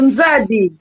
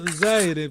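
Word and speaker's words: Nzadi: Do Nzad, o rio. Nzad. O ozad, quer dizer, o o Diogo C não conseguiu, Z não conseguiu pronunciar a palavra que seria Anzad e eh pronunciou Zire, ficou ali.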